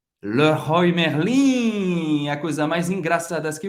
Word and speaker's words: Merlin: E Merlin, a gente vai falar Merlin. Merlin. O E tem um pouco mais aberto. Você vai pronunciar o R.